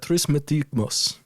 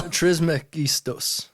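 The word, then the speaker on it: Trismegistus: It's a trismetigmos. By the way, You definitely didn't pronounce that correctly. Oh no, the T before the T. You're right. Yeah, that was not real. Trismegistos. There we go.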